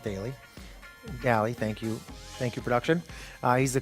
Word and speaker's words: Daly: This one is with Matt Daly, or perhaps it's pronounced Daly. Daly, thank you, production.